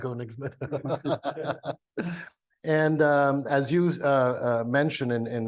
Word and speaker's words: Koenigsmann: Did I pronounce that right in German? Mostly, yeah. Koenigsmann.